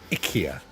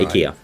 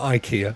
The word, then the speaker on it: IKEA: um course it's pronounced Ika yeah Ika it's not Ikea it's Ika Ika yeah you know